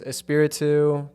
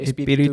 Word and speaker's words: Espiritu: The American way is Espiritu. The Tagalog way, Espiritu. Espiritu. Yeah, it could be anything with a little rolling of the R, basically.